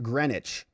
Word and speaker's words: Greenwich: Fred Pedamonte says, living in Connecticut, Greenwich, Connecticut is pronounced Greenwich.